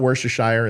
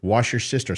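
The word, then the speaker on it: Worcestershire: i Ki tziki sauce wash your sister's sauce that's pretty close it's not wor a shire it's not wor a sheer it's wash your sister sauce it's pretty close it's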